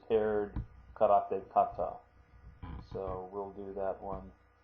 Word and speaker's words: kata: to look at is form and that is pronounced Kata Kata and the coni for that looks like this